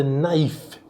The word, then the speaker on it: naïf: Colocando o trema em cima do I, eu obrigo a pronunciar o I, e nesse caso a palavra naïf eu também pronuncio o F final.